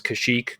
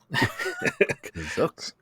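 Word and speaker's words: Kashyyyk: from the holiday special They pronounce kashik kazuk kazook so so uh they they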